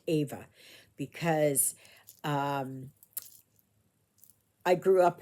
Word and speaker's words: Eva: name is Ava but it is spelled EV V A but pronounced Ava because um I grew